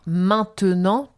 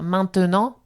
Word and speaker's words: maintenant: un peu précis mais entre deux consonnes et le e au milieu d'un mot et bien on va pas prononcer. On va on va donner un exemple. On a peut-être un en tête. Bien sûr. Par exemple, maintenant. Ouais.